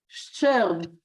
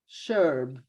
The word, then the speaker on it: Scherb: said exactly Ster, but really it is Scherb, which is very difficult to pronounce. My uncle in America, by the way, he softened it. He took out the ch sound, and they are all called now Sherb.